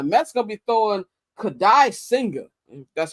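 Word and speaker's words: Kodai Senga: And the Mets going to be throwing Kadai Singer. That's how you pronounce his name.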